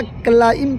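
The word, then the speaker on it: climb: B silent है। बी नहीं पढ़ा जाएगा। क्लाइम पढ़ा जाएगा।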